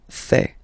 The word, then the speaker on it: fais: Je fais. Remember, final S not pronounced.